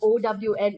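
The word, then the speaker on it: hone: also better able to own our ability not o w n o h o n e h i mean it's pronounced as own but uh the spelling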